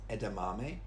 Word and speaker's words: edamame: Now these two are very common foods and commonly mispronounced. So this is edamame. Edamame. It looks like edamame, doesn't it? But it's edamame.